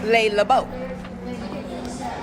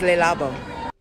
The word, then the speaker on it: Le Labo: Brand is not pronounced Le Labo. It is Le Labo.